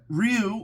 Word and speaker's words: Ryu: that's right announced that Ryu or rayu depending on how you say it all right is wearing